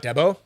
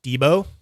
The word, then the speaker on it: Debo: Canadian way Debo Debo so it's not Deo it's Debo I like that big